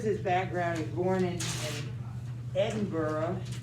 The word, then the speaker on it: Edinburgh: background he's born in edinburgh that's how they say it we might say edinburgh but they say edinburgh scotland his father was a